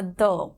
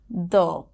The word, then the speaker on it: the: সো দি বা দ্য, এই উচ্চারণগুলো আমরা কখন করব? এই ওয়ার্ডটাকে আমরা আর্টিকেল হিসেবে জানি, রাইট? এবং যখন THE কোনো কনসোনেন্টের আগে আসবে তখন আমরা সেটার উচ্চারণ করব দ্য। উচ্চারণ হবে দ্য, THUH এর মতন উচ্চারণ হবে দ্য।